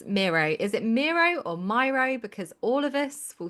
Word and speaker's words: Miro: It's it's Mero. As far as I'm concerned, it's Mero. I do hear it pronounced a lot of different different ways, but but but Miro like it's named after the Spanish painter.